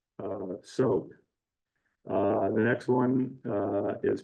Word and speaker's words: TSOGH: So their first big project was named, it's TSOGH, which is pronounced SOG.